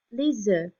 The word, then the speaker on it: œufs: When we make it plural, then we sort of stop here and we don't hear that F pronounced. Les œufs, les œufs.